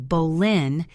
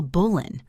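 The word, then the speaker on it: Boleyn: During her time in France, Anne began using Bolin instead of the original Bolan, a simplified pronunciation, and she often signed her name differently.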